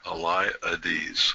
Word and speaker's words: Eliades: Is that Eliades? I gotta write it down somehow that I phonetically remember how to spell that. E. Yeah, Eliades. Eliades.